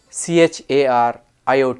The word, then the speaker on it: chariot: h a r i s m a Charisma c h a r iot t Chariot and then you have charcoal Sharad Shard another issue with English is silent letters and emphasis English has many many